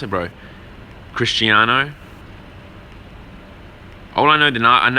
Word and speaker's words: Cristiano: man is it Christ crisano how do you pronounce it bro Cristiano all I know the I the last name's